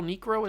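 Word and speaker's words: Niekro: or nro n nikro Phil nro is how you say his name I think I gotta really put emphasis on that K Nik pitch pitch oh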